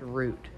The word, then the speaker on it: route: they may be doing Route 66 also but he did say route and that's not how you say it you can be on the route but it's called root right babe France oh the